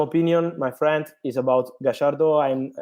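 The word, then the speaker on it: Gallardo: my friend is about gashardo and i try with argentinian pronunciation of his name because i love this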